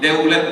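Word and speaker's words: Devlet: Kemudian yang di sebelah kanan itu adalah dari partai sekuler yang lain MP deulet V itu seperti wau. Jadi deulet bacanya ya Bahjeli bukan Bah jeli.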